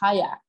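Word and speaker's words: qajaq: in Inuktitut, their language, they would pronounce it as hayak, more with a Q sort of sound.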